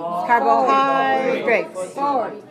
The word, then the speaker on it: carbohydrates: one right three one how about this word carbohydrates carbohydrates okay how many syllables car carbohydrates four okay and we have the stress on the third syllable so we're gonna say